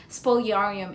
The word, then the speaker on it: Spoliarium: Okay, there's a debate in how to pronounce that, but Spoliarium it is, okay?